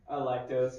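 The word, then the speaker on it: Alecto: Electo I feel like Electo is more likely to be pronounced correctly. Electo. Electo's correct.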